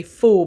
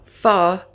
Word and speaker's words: pho: say for me because it's spelt p h o so i'm automatically want to say full but it's not i've looked it up i think it's far is the correct pronunciation